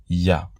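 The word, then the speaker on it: יה: Il est reconnu que ces deux lettres rassemblées se prononcent Yah.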